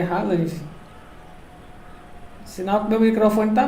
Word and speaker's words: Haaland: É, eu pronuncio Haaland, é Haaland.